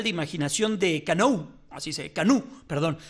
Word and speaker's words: Canou: Así Canú, perdón. Se escribe Canou, pero se pronuncia Canú.